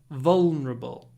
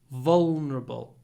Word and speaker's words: vulnerable: pronounce it vulnerable V it has a very dark L which is pronounced in the throat l L vulnerable vulnerable vulnerable vulnerable try to